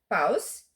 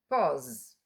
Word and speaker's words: pause: Paus. Não. No inglês americano, na maioria das vezes, quando vemos a U, pronunciamos o. Veja. Pause.